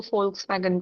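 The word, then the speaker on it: Volkswagen: बोलते हैं शायद हां वी को हम फ प्रोनाउंस करते हैं तो इसलिए हम फेयर अब शीडन बोलेंगे इसलिए मैम वो लोग वोन को फोक्स वैगन बोलते हैं।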